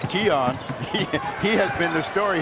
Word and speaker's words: Keon: number it's seven and we learned how to pronounce his name it's Keon he has been the